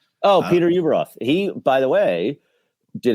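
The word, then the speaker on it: Ueberroth: Uberoth. Oh, Peter Uberoth.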